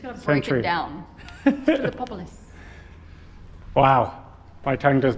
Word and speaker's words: Philippopolis: Epilatral Ionic capital from the western necropolis of Philippopolis. There we go. From the 2nd and 3rd You just gotta break century. it down. Philippopolis.